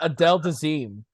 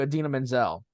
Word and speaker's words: Idina Menzel: Oh, he said her name wrong. He said Adele Dazeem. He was like, It's just like, did John Travolta just have a stroke on national TV? Because that's not anywhere close to Idina Menzel.